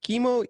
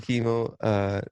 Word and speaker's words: Kimo: by Ron Cicero and Chemo Easterwood. What a name, Chemo Easterwood. Premiered at the Chemo. 2020. I didn't even register the cancer with it. It's spelled Kimo.